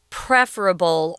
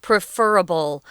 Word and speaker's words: preferable: my phone if that's preferable. Or another way to pronounce this is preferable. You guys pick the one that's easiest for you to say. They're both used. Actually, I use both of them sometimes.